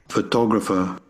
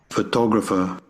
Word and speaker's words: photographer: Photographer. Again. Photographer. Photographer. Photographer. Here we have the stress in the second syllable. It's more louder and stronger than the other ones.